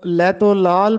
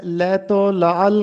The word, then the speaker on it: لیت و لعل: لیت و لعل کرنا۔ بہت سے طلبہ اس لفظ کو لیت و لال پڑھتے ہیں، جبکہ درست تلفظ ہے لیت و لعل کرنا۔ لیت و لعل کرنا